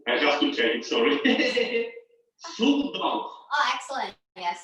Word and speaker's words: sữa đặc: Soup dog. Oh, excellent. Yeah, sữa đặc. Soup dog. Soup dog. It's very difficult to pronounce the tones of the Vietnamese words.